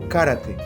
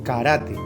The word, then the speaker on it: karate: cala en el idioma la palabra que generalmente decimos karate para referirnos al arte Marcial japonés está mal pronunciada la palabra original es karate porque en la fonética japonesa no existe esa construcción de karate un japonés diría karate y por lo tanto